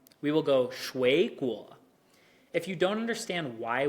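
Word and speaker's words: 水果: So we won't go 水果. We will go 水果.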